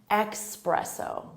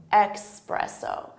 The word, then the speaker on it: espresso: what the issue is some native speakers will say it with an X sound espresso espresso espresso espresso espresso and